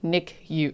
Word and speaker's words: NICU: Nicu is pronounced Nick U."